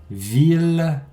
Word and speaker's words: ville: Il y a 3 grandes exceptions. 1000, ville, tranquille.